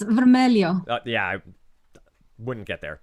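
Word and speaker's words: vermelho: portuguese this primary color vermelo in portuguese maria red red is correct did i come anywhere close to pronouncing that correctly um it's vermelio yeah i wouldn't get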